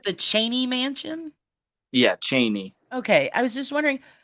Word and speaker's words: Cheney: broke up there a little bit is it pronounced the Cheney Mansion yeah Cheney okay I was just wondering um it's not